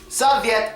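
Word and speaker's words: совет: today is do how how do you say advice in russan advice svet Soviet is how you say advice in Russian now is there a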